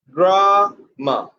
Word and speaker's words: grammar: Dear student, next word is grammar, very common word, and the pronunciation should be grammar, grammar, grammar. Put pressure on the first syllable.